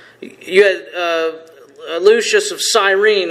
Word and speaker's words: Cyrene: had uh Lucius of Cyrene who I mentioned I think I said Cyrus I met Lucius I read his name wrong uh so you have